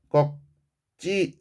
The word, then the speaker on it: 꺾지: 얘는 뭐가 적용돼야 되니? 음절 끝소리 현상. 음끝이라고 줄여서 쓰겠습니다. 적용이 돼서 꺽이라고 쌍기역이 기역의 발음으로 하나로 나는 거죠. 자, 쌍기역이 기역으로 교체되는 현상, 음절 끝소리 현상 나타났고 꺽지 맙시다.